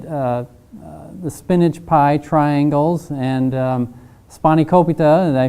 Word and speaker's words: spanakopita: We get the spinach pie triangles and spanakopita. Did I pronounce that right, George? Yes, spanakopita.